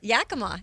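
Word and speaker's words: Yakima: Yakama.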